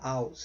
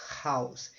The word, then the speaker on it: house: tem um h tá você não fala House você fala House Onde tiver um h você usa a garganta para pronunciar Tá então não é uma